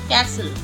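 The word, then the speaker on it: castle: सॉफेन सॉफेन इन्हें सॉफ्टेन नहीं पढ़ेंगे आप सॉफ्टेन कैसल कैसल विसल विसल और यह बहुत सरप्राइजिंग रहता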